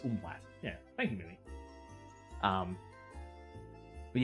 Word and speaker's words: umlaut: I thought it was, because Mum usually says it, and I've always thought of it as umflaut, but it's umlaut.